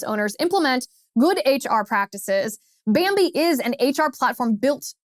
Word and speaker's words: Bambee: Bambi is an HR platform built for businesses just like yours.